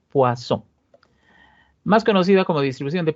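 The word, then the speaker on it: Poisson: es un apellido y en francés las consonantes finales no se pronuncian entonces esta es la distribución de hueso o al son la distribución de púas o wason más conocida como distribución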